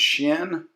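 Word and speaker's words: Qin: the emperor shenen Juan you can spell that q i n pronounce shin and um the Terracotta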